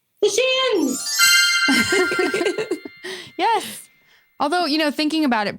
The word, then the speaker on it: The Shins: It rhymes with chins. The Shins!